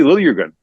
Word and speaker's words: Liljegren: Timothy Liljegren.